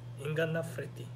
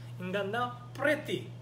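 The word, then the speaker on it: ingannapreti: 인간나 프레티. 인간나 프레티. F가 아니라 P 발음 파요.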